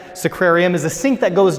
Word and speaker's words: sacrarium: pour that water into a sequarium is that pronounced correct sacrarium is a sink that